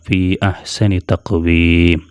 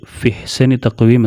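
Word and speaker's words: فِي أَحْسَنِ تَقْوِيمٍ: കാണാം രണ്ടാമത്തെ ഉദാഹരണം ദാ ഫീ അഹ്സനി തഖ്‌വീം അഹ്സനി എന്ന് കാണാലോ എന്ന് പറഞ്ഞാൽ നമുക്കറിയാം തുടങ്ങുമ്പോഴും ചേർത്തി ഓതുമ്പോഴും ഹംസ പറയണം ഫീ അഹ്സനി തഖ്വീം എന്ന് പറയണം അത് ഫിഹ്സനി തക്വീം എന്ന് പറയാൻ കഴിയില്ല പറയാൻ പറ്റില്ല അപ്പൊ അതുകൊണ്ടാണ് അത് വസൽ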